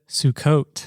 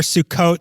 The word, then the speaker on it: Sukkot: Sukkot. Wrong! I told you the wrong thing. You idiot! Sukkot.